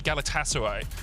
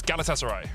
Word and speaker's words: Galatasaray: couple of tweets saying don't say galatasaray so it's galatasaray yeah we'll try if